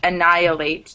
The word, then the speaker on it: annihilate: annihilate and I halate it's just annihilates naturally the H disappears let's annihilate does anyone